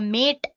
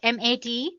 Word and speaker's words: MATE: can see the machine boots you into the mate desktop environment let me pronounce it m80 you can call it whatever you want mate